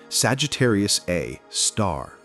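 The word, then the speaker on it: Sagittarius A*: And that monster is our next stop at level 44, Sagittarius A Star. Pronounced Sagittarius A star and often abbreviated SG Asterisk.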